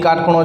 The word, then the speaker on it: cot: कोट नहीं बोलवानुं, शुं बोलवानुं? Pronunciation कॉट थवुं जोईए।